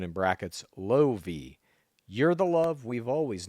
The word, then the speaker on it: Lovi: The Fergie took to Instagram to share photos of her baby girl, writing Lovi Levine Palvi, and then a pronunciation in brackets, Lovi.